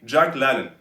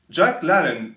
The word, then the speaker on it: Jack LaLanne: And I'm pronouncing it à la française. Americans would say Jacques LaLanne. Jacques LaLanne was a pioneer in the world of fitness.